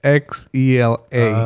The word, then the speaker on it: Xela: So I know a lot of people get it confused, but the spelling of it's Xela. Okay, cool. So, unless you're from Chihuahua, then you will Right. pronounce it like chela.